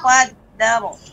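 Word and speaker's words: قدّر: Adapun ra tawassut. Jadi dar ya dar pengucapannya.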